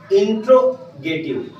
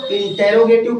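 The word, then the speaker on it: interrogative: के कुछ लोग इसको इंटेरोगेटिव पढ़ते हैं, कुछ लोग इसको इंट्रोगेटिव पढ़ते हैं। तो इसमें कोई डरने वाली बात नहीं है। ये एसेंट का अलग अलग फर्क है।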